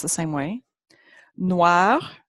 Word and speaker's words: noir: Noir also takes an E when it's feminine, but it's pronounced the same way.